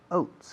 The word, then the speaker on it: oats: Eat, comen, avena, oats, escrito oats, como coat, como abrigo, quitas la C, oat, eso es avena, pero con S, oats.